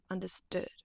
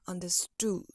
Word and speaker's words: understood: sound more like understood understood instead of understood I would say this is like a lazier version of O like understood understood thank you so